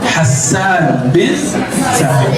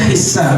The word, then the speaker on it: Hassan bin Thabit: Begitu cara bacanya yang sahih. Hassan bin Thabit. Boleh dibaca Hissan, tapi yang sahih Hassan bin Thabit.